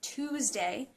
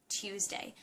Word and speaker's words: Tuesday: Some people pronounce it Tuesday. Actual pronunciation is meant to have the Y sound in it, Tuesday.